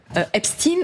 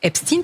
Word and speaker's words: Epstein: Alors on juste on précise Epsteine, nous on le propose, on le prononce Epstine. Pourquoi ? Parce qu'on a vérifié c'est à l'américaine. C'est à l'américaine. Tous les Américains le prononcent comme ça. Jeffre Epstin était un américain et lui-même prononçait son nom Epstein.